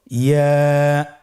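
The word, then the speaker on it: ياء: আবার বলুন ইয়া। ইয়ার মাখরাজ কোন জায়গা থেকে উচ্চারিত হয়? ইয়া উচ্চারিত হয় জিহ্বার মধ্যখান তার বরাবর উপরে তালুর সঙ্গে লাগিয়ে উচ্চারিত হয়।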